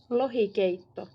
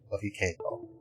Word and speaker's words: Lohikeitto: Lohikeitto. Lohikeitto. Parent. Lohikeitto. Lohikeitto. Keitto. Yeah, I don't think the redoubled T means there's literally two T sounds. I think it's Lohikeitto. Lohikeitto. Lohikeitto.